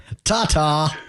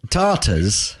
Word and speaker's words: Tata: the Indian manufacturer okay gotta be really careful how you say that Tata anyways it's like a plural don't say it like a plural tatas tatas are becoming